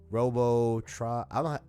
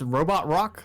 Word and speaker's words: Robot Rock: Robbo trauma how do you say your name sir it's robot rock like Daft Punk song why did I stylist